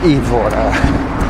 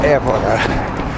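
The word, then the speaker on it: Évora: And then add out and back run towards Evora or Evora. There is an accent on the first E.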